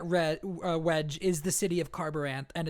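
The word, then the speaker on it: Kharbranth: We meet a young woman named Shallan in Carbaranth, or I think it's pronounced Carbaranth? Yeah, I think that's right.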